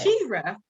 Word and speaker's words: Shira: Her name was Shera, right? Right. Shira, right? Okay. Vowels are different. They create different sounds, people. Vowels create different sounds. They do. Hopefully this captivating conversation will help people pronounce my name correctly. Her name is Shira, okay? Shira. There's an I in that.